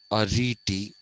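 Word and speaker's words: aretē: greek a reti okay this has to be pronounced a riti ethic that's what it means the good life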